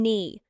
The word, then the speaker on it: knee: It's like the silent K in knee.